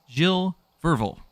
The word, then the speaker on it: Gilles Verville: once again, I'm sorry, Gilles Verville? I am so sorry if I could not pronounce that correctly. After some quick research, it is Gilles Verville.